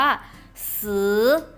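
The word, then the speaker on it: 十: ยก ตัว อย่าง มา ให้ ดู คำ ว่า ซื้อ นะ คะ ซื้อ ซื้อ ที่ แปล ว่า อะไร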